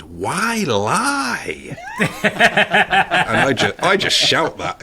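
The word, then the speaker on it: Wylye: And there's also a place that I'd spotted recently when I was down by Frome called, well, it's spelled W-Y-L-Y-E, so I think it's pronounced Why-Lie.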